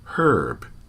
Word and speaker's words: herb: percent of Canadians however in much of the rest of the english-speaking world the word is pronounced with an H herb the name of the